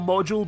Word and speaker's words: M3DUL4: Injection's VR mode, also known as I think it's called Module, but it's spelled like M3DUL4. I'm gonna just call it Module, will be DLC and will only be compatible with the Oculus Rift.